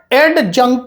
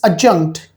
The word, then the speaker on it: adjunct: When we study sentence part, it is not add adjunct. It is adjunct. D is silent in this word.